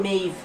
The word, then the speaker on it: Maeve: Maeve. That's how you put it. It's an Irish name. How are you? Maeve. Maeve. It's spelled like mold, but it's pronounced Maeve.